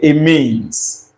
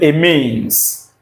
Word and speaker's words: amines: Some persons might pronounce that as amine. Am I it's your business. If I decide to pronounce it amine is also my business. Okay. I pronounce it a means. It means and uh of course that's the correct pronunciation anyway.